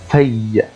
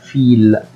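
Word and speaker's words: fille: هناك حرف الاي زائد دوبل ال اي حرفين من الال مضاعفين زائد حرف الاو فبتنطق فبتنطق اي فبتنطق اي زي بقول كلمه في في في اي بنت ما ينفعش اقول فيل خطا في في بعض الحالات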